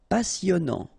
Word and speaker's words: passionnant: Passionnant. Okay, here you pronounce the double S because you've got a vowel, so it's really a strong one. Passionnant. Final T not pronounced, and then here you get this en sound. Passionnant.